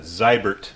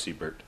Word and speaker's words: Siebert: So I'd pronounce that Zybert if I were in the old country. But we'll go ahead and say it's Siebert.